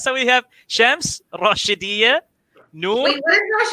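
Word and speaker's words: شمس: Sun in Arabic is Shams. Shams. Shems. Yeah, Shams. You're the sun. You're on my sunshine. I like it. I'll take that. Okay. All right. So we have Shams, Rashidiyya, Noor.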